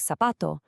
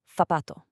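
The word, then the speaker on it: zapato: But in most of Spain, the Z and that soft C get a totally different th sound, like in the English word think. So, a word like sapato becomes fapato.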